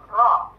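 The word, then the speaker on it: ر: Karena habis itu kita masuk ke tengah langit-langitnya, ujung lidah kita masuk ke tengah langit huruf ro.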